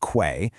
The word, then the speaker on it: Quaye: That's pronounced Quay.